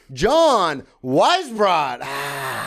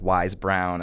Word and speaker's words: Weisbrot: I feel like everyone has gotten it wrong. And I taught elementary school. Yeah. And those kids, not even close. Well, because it's not spelled the exact same way. No, it's spelled so in a difficult way. Yes. I remember one kid calling me like Wise Brown, and I'm just like, good enough. Yeah, we're close.